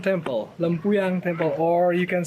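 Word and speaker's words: Lempuyang: say the name of the temple it's called lampuyan temple lampuyan temple or you can say git of Heaven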